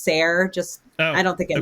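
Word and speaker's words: SARE: And just for clarification, I'm I think the e tends to be silent, so I've always heard it pronounced sir.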